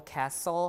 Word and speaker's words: castle: and S cluster uh T is also lost in s cluster uh be uh for example Castle Hassen wrestle listen and hustle right uh also the